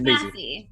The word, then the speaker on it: Massey: Massey.